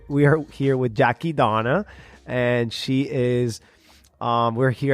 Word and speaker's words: Dohna: Dohna. Okay. Yeah. Kind of like donut, but you just don't pronounce the T.